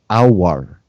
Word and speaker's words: Aouar: and also pep himself mentioned our and that's how you pronounce it guys you've basically it's